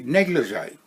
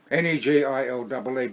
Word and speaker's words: negligee: And I came across a word that I can pronounce now easily, negligee. Negille. But do you think as a 12-year-old I could pronounce that word? Negile? Negile? I couldn't for the life of me pronounce negligee.